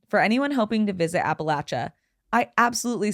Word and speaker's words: Appalachia: Two, for those who aren't from the area and have always wondered the right way to pronounce it, it's Appalachia. As we often say, if you say Appalachia, we'll throw an Appalachia.